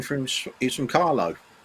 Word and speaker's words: Carlow: william replied to john saying from he's from carlow carlo i'm assuming it's pronounced carlo yeah it is carla it's actually